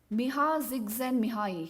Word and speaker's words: Csikszentmihalyi: Now, this concept of flow, as you may be knowing, it is given by Miha Csikszentmihalyi.